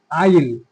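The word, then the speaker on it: I'll: আইল, এটা উচ্চারণ কি হবে? আইল। আই উইল না বলে এটাকে আমরা কি বলবো? আই ইল।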